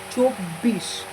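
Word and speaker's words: চব্বিশ: So chom and this double consonant, first cho, then this double consonant bo and bo, double consonant chobbo, then hoshi chobbo I, chobbi, and then talbosho chobbish.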